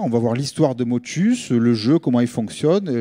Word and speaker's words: Motchus: Il y a un S, on le prononce, sinon on aurait mis motu.